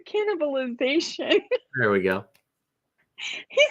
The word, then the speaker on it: cannibalization: a tough word i kept calling it keyword cannibalism it's keyword cannibalization here we go he